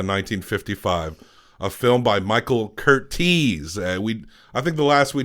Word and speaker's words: Curtiz: And I called him Curtiz, and people online were like, it's Curtiz. And so now that's seared into my brain how to pronounce his last name.